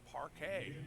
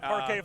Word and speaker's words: Parquet: Anukica's last name is pronounced parquet. Parquet. Okay. Like the parquet floor of Boston Garden. Right. So, I'm gonna give a shout out to Lisa Pinsky. Thank you very much, Lisa, for allowing us to pronounce Anukica's name correctly. Parquet. So, like the old uh butter. It's not butter, it's parquet.